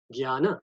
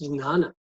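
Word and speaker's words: jñāna: i would write g-y-a-n-a gyana that's how it is it sounds to me and that's how we normally just could not pronounce this we can pronounce it gyana or nana both are correct right but here there's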